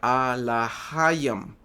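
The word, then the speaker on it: אלוהים: strong hebrea 430 que se pronuncia a laam, ¿okay? A laam.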